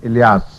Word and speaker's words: Elias: He is pronounced in some countries or some languages Elijah, and in some Elia, and in some languages Elias.